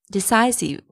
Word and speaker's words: decisive: Number three, decisive. It's not decisive, decisive, decisive, decisive.